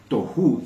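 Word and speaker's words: תהו: son dos términos diferentes les decía que t se escribe t o h u toju se podría leer y babou es como suena con v laz v a V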